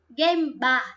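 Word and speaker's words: 現場: Đó, cái chữ này thì lẽ ra trong nhiều phần có thể đọc là jo các thứ chẳng hạn ấy, có nhiều cách đọc đúng không? Nhưng đi với hiện trường nó đọc là game bar.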